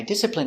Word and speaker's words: discipline: I discipline my child when he doesn't behave. Pronunciation, discipline. D. S, dis. Disse. P, disip. Disciple. Discipline. Discipline. Stress on the first syllable.